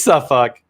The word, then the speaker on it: Suffolk: It is Suffolk.